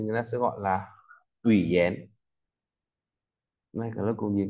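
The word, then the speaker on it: 语言: Ví dụ dén này, ta có từ ngôn ngữ thì người ta sẽ gọi là ủy dén.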